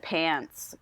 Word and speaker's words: Pans: I would call it PANCE, but it would just be spelled PANS. And you'd call it PANCE. But it's pronounced like TS?